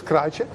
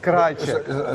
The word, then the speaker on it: Krajicek: We have Richard Krajicek.